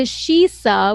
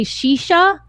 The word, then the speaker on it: Shisa: that and then i changed my name to shisa which is when i met you uh eric i was going under shisa but like no one could spell it right so they kept calling me dj shisha even though in my